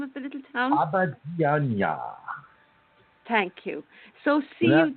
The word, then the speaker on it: Abidjan: Pronounce it for me, Brazil. What's the name of the little town? Abidjan.